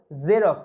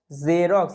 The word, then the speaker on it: Xerox: তারপরে দেখো এক্স এর উচ্চারণ জয়ের মতো হয়, অ্যাকচুয়ালি জয়ের মতো হতো না, জ জ এরকম একটা সাউন্ড হয়। যেমন জেরক্স, এটা কমনলি তোমরা দেখেই থাকো, জেরক্স, XEROX, জেরক্স, এখানে শব্দের